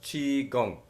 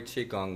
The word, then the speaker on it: Qigong: Michael Winn has been a seminal Qigong, Qigong pronounced Qigong, teacher in the West for 35 years.